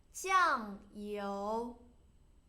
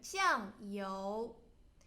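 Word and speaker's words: 酱油: And then soy sauce, 酱油酱 first turn, 油 second turn, 酱油 Vinegar, 醋 Good.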